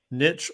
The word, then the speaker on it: niche: Um, kind of related to this is the concept of finding your niche or niche, depending on who you are, your area of focus.